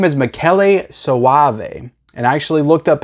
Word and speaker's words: Michele Soavi: he knew, Dario Argento, but his name is Michele Soavi. And I actually looked up how to pronounce his name before I said it because I didn't want to sound stupid, which I always do. But Michele Soavi is his name, and he directed this and